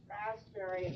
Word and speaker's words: raspberry: So they all missed raspberry on our practice test. So we practiced it again because the B is silent.